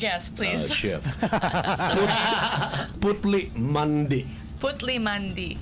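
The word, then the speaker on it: Putli Mandi: it's it's a it's okay let's let me pronounce all of these yes pleas Chef put Mandy putle Mandy putle Mandy ah okay there X is the authentic guy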